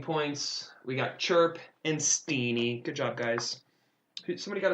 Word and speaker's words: Stene: technically pronounced Stene. It's Norwegian.